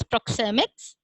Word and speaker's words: proxemics: It is pronounced as proxemics, and it is translated into simple terms as space language.